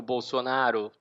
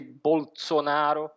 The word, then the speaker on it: Bolsonaro: Isso se deve, sobretudo, porque na língua vêneta eles não pronunciam esse Bolsonaro como seria no italiano standard, o italiano padrão. Eles tendem a fazer esse S mais suave mesmo do Bolsonaro, né?